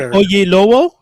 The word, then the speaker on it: Oyelowo: David Oyelowo.